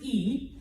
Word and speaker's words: y: so it is pronounced e so like two e's like me feet okay um but it